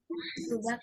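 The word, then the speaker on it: 수박: Subak, Miss. benar. Su, itu ya, pelan-pelannya ya. Su kan, S-U, su. Lalu P, A. Nah, ini ya, menjadi 받침 kan? Jadi bunyinya subak gitulah.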